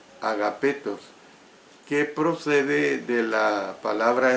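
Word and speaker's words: ἀγαπητός: La palabra griega que aquí se traduce por amados es una forma de agapetos, así como lo oye, agapetos, que procede de la palabra especial para amor, que es ágape.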